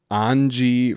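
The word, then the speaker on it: Anje: like shave asure mean like southern German pronunciation like on G oh but I'm gonna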